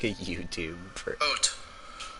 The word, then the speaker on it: haute: They have like a YouTube for Haute. Haute. Haute. Haute montagne. Haute montagne. What does haute mean? So if montagne is mountain, haute must mean fashionable or elegant.